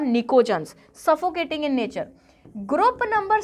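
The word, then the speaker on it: pnictogens: निकोजन्स में बेटा P silent है, ठीक है, इट is written as PNICO, निकोजन्स।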